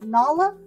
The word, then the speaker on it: Nala: Look at it's not It's Simba and Nal Nala. Nala, is that how you say it? I don't say Nyla.